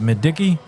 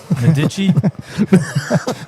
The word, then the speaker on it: Medici: Is it Madiki? Medici. It's not Madiki, right?